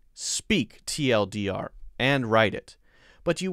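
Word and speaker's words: TL;DR: opinion and you know if you say too long didn't read that would actually be weird so no one will say give me the too long didn't read there you would only say the acronym tl dr how about this one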